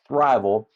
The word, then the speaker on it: Thriveal: And everybody says Thriveal. That's not how you pronounce it. But anyway. Well, I was even pronouncing it wrong because to me it was Thriveal. Yeah. And so, everybody says, but hey, I don't blame them. That's how it's spelled.